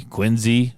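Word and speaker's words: Quincy: Uh over in Boston around Quinzy. Quinsey. Quinzy. That's how you say it.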